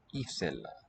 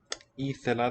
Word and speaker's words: ήθελα: Ήθελα, this is a long E vowel, which has become raised not from A anciently, or lower maybe, to a high vowel E.